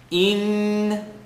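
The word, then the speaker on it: إِنَّ: Noon shadda, full nasal sound, rule 3 of rhythm. Inna.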